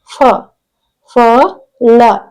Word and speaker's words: ಫಲ: ಇದು ಮಹಾಪ್ರಾಣ ಅಕ್ಷರ ನೆಕ್ಸ್ಟ್ ನೋಡಿ ಇಲ್ಲಿ ಬಂದು ಫಲ ಫಲ ಪಲ ಫ ಲ ಫಲ ಓಕೆ ಇದು ಮಹಾಪ್ರಾಣಾಕ್ಷರ ನೆಕ್ಸ್ಟ್ ಜ ಳ ಜಳ ನೋಡಿ